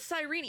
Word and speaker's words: Cyrene: It is Sirene. I just It's like a Hades 2 Seline situation o all over again. That must be like a like the actual Greek pronunciation or something. They they say it with with the extra syllable there.